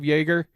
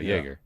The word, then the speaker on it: Joerger: I think I pronounced is it Dave Joerger? If you have a 100% confidence in in David Adelman, don't ask me Olympics and swore. Ask Alex. Joerger. Yeah. Yeah. Joerger.